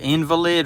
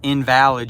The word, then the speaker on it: invalid: it's like, you know, you can pronounce that two different ways. The invalid or invalid, you know, and it's